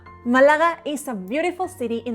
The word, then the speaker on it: Málaga: Just Malaga. No, Malaga. The L is quick, not Malaga, but Malaga. Quick. The G is soft, not ka or ka, but ga. Repeat. Ga. Malaga. Málaga is a beautiful city in the south of Spain.